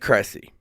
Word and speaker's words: Kressy: So it is Ed Cressy. Okay. I wanted to make sure I was pronouncing the name right.